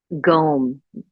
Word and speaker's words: Gum: So removing obstacles, Gom, it's spelled Gum, but it's pronounced Gom.